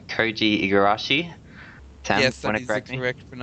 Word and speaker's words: Koji Igarashi: That comes from, I hope I'm pronouncing this right, Koji Igarashi.